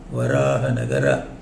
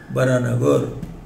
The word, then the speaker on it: Varahanagara: So that was at Varahanagara. It should be pronounced like that. But in colloquially they say Bharanagar. Bharanagar means Varahanagara.